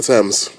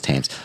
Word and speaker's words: Thames: The Thames. The Thames. That's what it is? Okay. River Thames, I yeah. thought it was Thames. It's spelt like that, but you know how Yeah. British people pronounce shit.